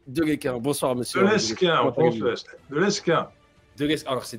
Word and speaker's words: Lesquen: De Lesquin. Le S se prononce. L'aéroport de Lille s'appelle Lesquin, mais ça n'a aucun rapport. Pour moi, on dit Lesquin.